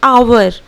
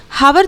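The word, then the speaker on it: hour: हा ओ यू आर इसे हम लोग प्रनंसीएट करते हैं अवर ना की अवर हावर तो हम लोग नहीं बोलते हैं हावर कभी नहीं बोलते हैं शुरू करते हैं अवर तो यहां आगे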